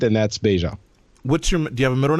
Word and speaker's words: Beja: traveled so much that now it's the French way that you have to pronounce it and that's beta what's your middle name